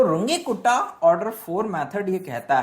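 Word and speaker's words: Runge–Kutta: कहता है रुंगे कुट्टा कई लोग इसको कुत्ता भी बोल दे ते हैं खासकर जो हिंदी मीडियम वाले हैं या फिर जो हंसी मजाक करने वाले बच्चे हैं क्लास में वो अक्सर इसको कुत्ता प्रोनाउंस कर देते हैं जबकि ऐसा नहीं करना चाहिए हंसी मजाक के लिए कभी-कभी चल जाता है लेकिन यह बेसिकली एक रिन मैथमेटिक्स थे जिनका नाम था रुंगे कुट्टा ठीक है ना मतलब फॉरेन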